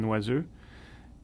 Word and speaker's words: Noiseux: My name is Noiseux, pronounced properly from Canada, where I'm from, is Noiseux, and I am an